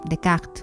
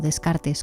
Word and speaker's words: Descartes: ¿Qué sucede con Dec o Descartes como lo pronunciamos en español y en particular con el discurso del método?